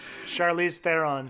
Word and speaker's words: Charlize Theron: oh my god I can't say her name Charlize Theron thank you I think she's great yeah she's